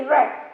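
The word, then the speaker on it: read: तो इसको हम पढ़ेंगे हैज और हैव मिसिंग है, सो we will spell it ही रेड। क्या पढ़ेंगे, प्रोनाउंसिएशन क्या होगी हमारी, ही रेड, उसने पढ़ा।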